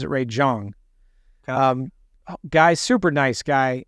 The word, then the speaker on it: Ray Zhang: But I interviewed a friend, Ray Zhang, but I think he pronounces it Ray Zhang.